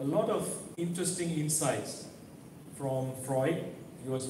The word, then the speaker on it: Freud: I came to the church and I found that they pronounce Freud as fraud. And Jung as junk.